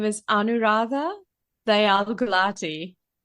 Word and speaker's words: Gulati: My full name is Anu Rada Gulati.